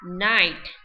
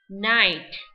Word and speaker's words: knight: Hiệp sĩ là knight, knight. Và bóng đêm sẽ là night, night. Ok. Cô nhắc lại nha, chữ knight vừa có nghĩa là phát âm á là gì nào? Hiệp sĩ, và cũng là phát âm của chữ bóng đêm.